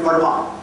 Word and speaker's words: Fermat: In the 17th century, there was a great French mathematician by name Fermat. All physics and mathematics students and teachers will have heard of. Fermat, often physics people pronounce it as Fermat.